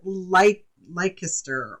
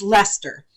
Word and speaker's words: Leicester: And some people might pronounce it Leicester or but it's L-E-I, I believe it's C-E-I-S-T-E-R. So, or C-E-S-T-E-R. It's Leicester.